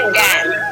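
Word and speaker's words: damn: Next D ए एम एन, एन से पहले एम आया, ये आपका एन साइलेंट रहता है, और इसीलिए इसको हम क्या बोलेंगे, डैम, ठीक।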